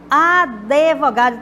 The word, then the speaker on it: advogado: meu advogado chamei né então a pronúncia Advogado não é o de mudo não advogado como tá escrito ali na letra de como se fosse com